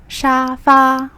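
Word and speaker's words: 沙发: in chinese chinese is shafa it actually comes from english pronunciation similar sounds like sofa or shafa so it's very easy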